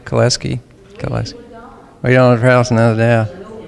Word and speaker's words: Kwilecki: yeah sure you know III always say quill s keys but it's cholesky use pronounce the w cholesky guys are y'all house another there yeah yeah